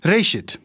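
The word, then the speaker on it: ראשית: Gênesis vem de uma palavra hebraica, que é pronunciada Reshit, e significa simplesmente início.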